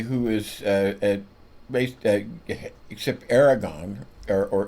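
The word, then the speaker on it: Erdoğan: And the president of Turkey who is uh based except Aragon or Erdogan. It's a G, but it's kind of pronounced it's Erdogan.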